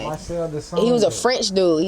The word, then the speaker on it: Marcel Desaulniers: Marcel Desaulniers. Marcel Desaulniers.